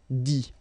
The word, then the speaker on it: dit: Okay, remember, you put this T, you don't pronounce it. Écrit, dit, all right?